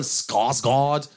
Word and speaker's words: Skarsgård: Jackson, Jacqueline McKenzie, Michael Rappaport, Stellan Skarsgård.